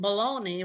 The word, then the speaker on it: bologna: of these words rhyme but pony and bologna rhyme and they're not spelled the same so i just want